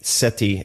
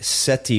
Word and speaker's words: Sethi: Why is the T pronounced like a TH and the TH pronounced like a T? I'll tell you two things about my name. First of all, in Punjabi, the way it's written, it's TH, so Ramit.